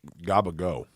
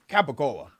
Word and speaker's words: capicola: What's gabagool? Cool. You can say it like that. People will laugh at you. It's like saying... What is it? What is it again? Gabagool. What is that? Capicola.